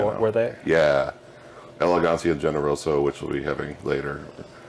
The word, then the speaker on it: Generoso: Is it Generoso, or how do you pronounce that? Generoso.